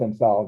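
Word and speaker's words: Cinsault: It starts with a C. Sensal. I think it ends with A-U-L-T. Sensal. Like it's pronounced Sensal though. The French tend to drop off the last couple of characters.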